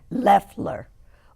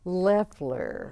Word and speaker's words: Loeffler: But I have Eileen Ludham, who is the acting supervisor, and Barbara Loeffler. Loeffler. Say it again. Loeffler. Loeffler. Yeah. Okay, it's got an O in there. The O is silent.